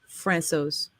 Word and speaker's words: Francouz: Also, according to the official NHL pronunciation guide, it is Pavel Francouz.